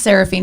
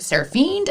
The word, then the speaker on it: Seraphine: the podcast sarah fiend my name is seraphine if you look up like the old adage of the name it's it's angel basically but um a lot of people would mispronounce it like electra's name and celeste name that were weird names and the fiend part like it was like sarah fiend i'm like well fiending